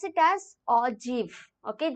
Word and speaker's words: ogive: it as o g i v e you pronounce it as or GIF okay j e e v here everyone yes